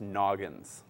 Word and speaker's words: Nognz: that's how it's spelled that's how it's spelled and it's pronounced Noggin do you know when